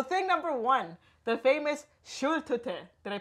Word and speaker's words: Schultüte: So thing number one, the famous Schultüte. Did I pronounce that right? Schultüte? Schultüte.